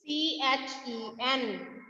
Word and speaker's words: kitchen: KITCHEN। KITCHEN। Ma'am ने कौन सा लेटर बताया था इसमें कि वो साइलेंट है? कौन से लेटर की कोई साउंड नहीं आ रही इसमें?